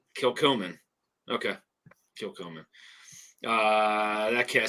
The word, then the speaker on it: Kilchoman: Kilchoman. Kilchoman. Okay. Kilchoman.